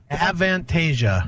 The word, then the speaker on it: Avantasia: how do you say that Chris an vantasia avantasia there you go and that features the uh